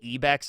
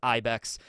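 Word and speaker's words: ibex: Did I say ebex or ibeck? I'm pretty sure it's ibeck cuz in Japanese I's are pronounced with the e sound and in English e are pronounced with the e sound. So sometimes I'll get those confused.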